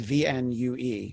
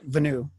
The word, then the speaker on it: VNUE: I assume is pronounced VNUE, but it's VNUE. So That is uh, correct. Yeah. I figured I'm just filling in the E, and it's not some crazy like VNUE.